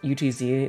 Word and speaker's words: Utz: from her so yeah you just pronounce UTZ it's not like it's spelled that but I I like to because it's funny OOTS blood